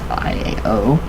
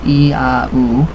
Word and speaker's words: IAO: Isis, Apophis, and Osiris, IAO, pronounced I-A-O, or I-A-U, forms the name of the supreme god of the Gnostics, an early sect of Christianity.